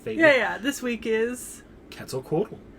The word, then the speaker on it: Quetzalcoatl: have the pronunciation perfect i'm going off the uh nahuatl uh pronunciation which uses that at the end of the one and is uh cats like k-e-t-z quetzalco so that's the pronunciation